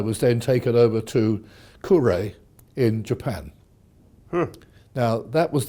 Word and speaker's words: Kure: And I was then taken over to Kure in Japan.